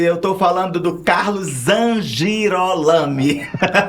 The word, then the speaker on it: Zangirolami: dimisa vou já perguntar para ele se a pronúncia tá correta Ele ama Timon é evangélico e eu tô falando do Carlos zangirolami é isso é isso mesmo Carlos Z girol